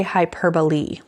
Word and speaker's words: hyperbole: now my last one it's spelled hyperbole but we say hyperbole hyperbole a hyperbole is an extreme exaggeration